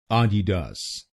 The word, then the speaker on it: Adidas: इसकी सही प्रोनाउंसिएशन है आडिडास। आडिडास। इस शब्द में 3 शब्दांश हैं। पहला शब्दांश है ए, दूसरा शब्दांश है डी आई और तीसरा शब्दांश है डी ए एस।